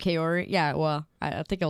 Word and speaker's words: Kaori: that last one yeah there's like three different ways to say my name and I just say it in the most English way possible Kori or you say